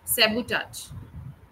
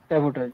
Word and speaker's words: sabotage: that resulted self sabotage the pronunciation of the word is sabotage okay sabotage good assertiveness is left